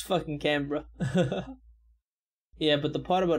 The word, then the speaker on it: Canberra: Also, Canberra is pronounced Canberra. Canberra, okay, that's how I should say it now. Canberra.